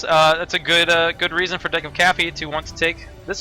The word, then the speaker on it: DecofCaffee: DecofCaffee. DecofCaffee? Yeah. But it's like deck of, like, look, it's not decaf or decoff, there'd be two F's there.